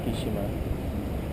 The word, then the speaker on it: Tsukishima: It's kind of like Tsukishima, but they pronounce it Tsukishima.